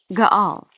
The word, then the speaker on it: Gaal: G Gala Charles smiled Gaal okay so it's two syllables with an a sound at the ending of the first and the beginning of the second that's right okay so